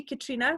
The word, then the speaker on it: Catriona: and I am Catriona so it should be Katrina that's my original well that's what I should